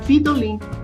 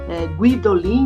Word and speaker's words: Guidolin: na hora de pronunciar ele pronunciou de alguma maneira que o escrivão colocou vidolin então não entendeu que ele tinha falado guidolin né guidolin daí ele escreveu tem